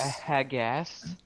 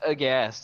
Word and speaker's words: aghast: Hagast. I'm trying to read. This is the reason why you guys don't let me read. It's as- pronounced aghast, and this is exactly Aghast.